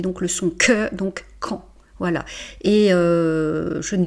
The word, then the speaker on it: quand: euh donc on prononce quand la boulangerie est-elle ouverte, hein. Donc on ne prononce pas le D. Et Q + U, ça fait donc le son que donc quand.